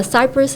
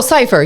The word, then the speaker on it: cipher: I will be helping with the uh cy uh cypress. Is that how you say it? Uh like music cypress. Oh, cipher. Yeah.